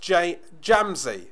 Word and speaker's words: Jamsy: It's pronounced Jamsy. Okay, Jamsy. You're not the first person to say that. It's fair dues. Just pronouncing how it semi-reads. Hello, Peter Shipway.